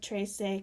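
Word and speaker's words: trece: remember in spanish we do not have silent the sila e so onstag do say tracee catorse you do pronounce that e as an a at the end of the word so for example 3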